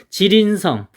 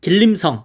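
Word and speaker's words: 吉林省: 지린성, 여기 우리나라 이제 중국 동포들이 아주 많이 살고 있습니다. 장춘, 한번 가봤습니다. 이쪽에 길림성 뭐 이렇게 되어 있죠. 발음은 지린성입니다.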